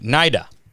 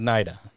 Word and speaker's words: Naida: hundred years all right nida right we're going with nida that's the correct pronunciation all right um give